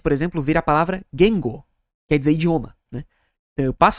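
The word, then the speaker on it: 言語: Este é Gengo, é assim que se pronuncia, é um padrão Atamadaka.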